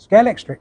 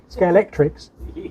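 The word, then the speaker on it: Scalextric: only people I've heard actually calling it proper name scale yeah nobody ever pronounces the X yeah no they scale scale electrics scale Elric I practice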